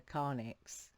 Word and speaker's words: carnyx: he was like whoa that sounds like a karnix so if you don't know what karnix is